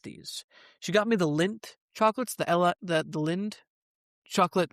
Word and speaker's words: Lindt: Lindt. Yeah. Is that how you say? It? Yeah. It's like Lindt, but there's a D in there, right? The D is silent though, right?